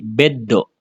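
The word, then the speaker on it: ベッド: Jadi dia mengikuti yang ada di depannya, yang di setelahnya setelah huruf sunya ini apa? Ini kan do ya. Berarti dia akan menjadi beddo.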